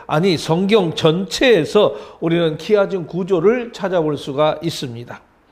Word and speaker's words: 키아즘: X처럼 되어 있다고 그래서 우리가 헬라어에서 X는 우리가 이거 키로 우리가 발음을 읽죠. 그래서 거기다가 아즘을 붙여서 키아즘이다, 이렇게 이름을 붙였던 것입니다.